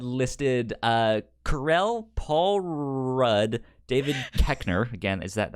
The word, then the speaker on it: Koechner: David Koechner.